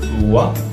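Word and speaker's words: は: Donc la particule oa, elle se prononce wa, donc on écrit wa en fait, mais le hiragana qu'on utilise en fait c'est le hiragana ha.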